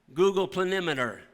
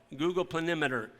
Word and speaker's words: planimeter: Actually, it's a tool called Google Planimeter. You can go online and you can pull up your farm. It's spelled Planemeter. Google Planimeter.